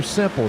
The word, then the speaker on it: Simple: Matthew Simple, that's how you say his name, by the way. When I first saw it, I said, was it Sample or Simple?